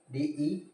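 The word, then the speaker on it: debt: silent reason am hard है B soft है silent हो गया इसके डे डी टी क्या पढ़ते हो आप डे क्या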